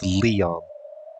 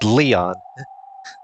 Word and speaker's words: Lion: Lion but pronounced Leon. Like Leon.